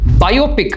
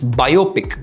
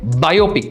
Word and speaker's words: biopic: ஒருத்தங்களை பற்றி படம் எடுத்திருப்போம் இல்லைங்களா, அது வந்துட்டு பயோபிக் அப்படின்னு தான் சொல்லணும். ஓகேங்களா, பயோபிக். நிறைய பேர் பியோபிக் அப்படிம்பாங்க, இல்லாட்டி there will be other ways to pronounce, but the right way to pronounce is biopic. Okay, biopic, BIOPIC, biopic.